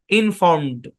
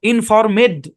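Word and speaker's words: informed: ইন ফর্ম ইনফর্মড ইনফর্ম ইনফরমেড এরকম না ইনফরমেড না ইনফর্মড এরকম ঠিক আছে ওকে চলেন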